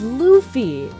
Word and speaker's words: Luffy: I didn't even know I thought Luffy's name was pronounced Luffy. So I I always pronounced it Luffy until I started watching and then it's like oh oh it's it's Luffy like a lofah.